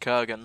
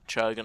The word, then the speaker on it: Kurgan: And okay, I've just got news that Gabriel's name is pronounced Kurgan, not Churgan.